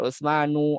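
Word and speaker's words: عثمانُ: Ya, bacanya adalah harokat biasa bukan tanwin. Sulaimanu. Ada Utsman, ya di situ ada Utsmanu, ada Salmanu, ada Maryamu, ya, nggak boleh Maryamun, nggak boleh Maryamu.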